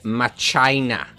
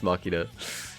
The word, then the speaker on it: Machina: Uh, why is he pronouncing Machina? It's Mina, bros. It's Mina. We we even have the voice lines in game now to guarantee that it's Makina. Well, saying that, we would